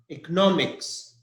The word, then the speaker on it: economics: We have the last word, that is economics. It's a subject or study, economics. And the stress is NO, nomics, NO. The stress is on NO, nomics.